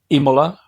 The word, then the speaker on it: Imola: nearby so I live in a town called Imola it's spelled i m o l a which is